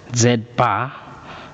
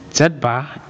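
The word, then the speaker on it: z̄: written as something like this and it is pronounced as z bar is written as z bar is equals to um is equals to x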